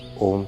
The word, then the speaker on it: ओम: 3 बार ओम की ध्वनि यानी ओम चैंटिंग करते हुए आ, ऊ और माँ, इनसे मिलकर बना ओम। ओम के माध्यम से लंबा गहरा सांस भर के ओम चैंटिंग बहुत अच्छा अभ्यास आप कर सकते हैं।